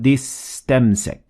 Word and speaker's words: اسْتَمْسَكَ: As you can see, I'm completely ignoring the Alif in istamsak. So I said فَقَدْ اسْتَمْسَكَ.